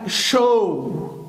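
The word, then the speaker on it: show: طيب الكلمة دي انا قلت ان الاو بتتنطق او تبقى شو. هتقول لي يا مستر انت لسه قايل من شوية ان الاو دبليو والاو يو بيتنطقوا او ماشي مفيش مشاكل، بس هي في بعض الشواذ تبقى دي شو اللي هي عرض او يعرض.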